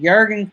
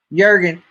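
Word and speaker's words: Jürgen: Jurgen, don't we pronounce it with the Y sound instead of the J sound?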